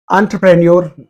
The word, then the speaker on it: entrepreneur: the spelling of that word is given correctly entrepreneur entrepreneur entrepreneur so in our Indian pronunciation we say entrepreneur entrepreneur not Entre entrepreneur